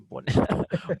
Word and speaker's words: Bone: Jadi biosecurity practices in beef farm in Bone Regency, Bone ya, maaf, Bone jadi dibacanya Bone.